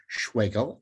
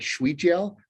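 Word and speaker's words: Schwegel: D-A-V-I-D, Schwagel, S-C-H-W-E-G-E-L. You know the drill. Spelled like Schweigel, rhymes with bagel, with Phelps, P-H-E-L-P-S, engineering services, just like Michael Phelps, Talkspace Therapy for All.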